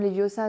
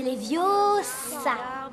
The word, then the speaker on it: Leviosa: C'est Leviosa et pas Leviosa.